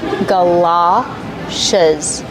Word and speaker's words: galoshes: Ga, like up and cup, gala. It's an open sound, like stop and hot, galoshes.